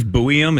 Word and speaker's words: Zeev Buium: I don't know how to pronounce the guy's name again. Hello. Is it Zeev Buium?